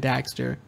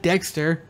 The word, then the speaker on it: Daxter: that says jack and daxter it's d-a-x-t-e-r daxter yeah not dexter i know i i